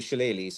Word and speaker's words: shillelagh: And so the shorter sticks are the shillelaghs as well, and pronounced shillelagh.